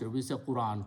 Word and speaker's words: Quran: scripting is different but the important thing is that on all of us pronounce Quran Quran Quran we don't combine these two we combine half with the alif Quran we should pronounce this